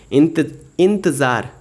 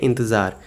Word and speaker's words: इंतज़ार: नज़र नहीं बोलेंगे, क्या बोलेंगे, नज़र, क्योंकि सब में ज में देखिए नुक्ता लगा हुआ है तो ज बोलेंगे उसको। इंतज़ार, इंतज़ार नहीं, क्या, इंतज़ार।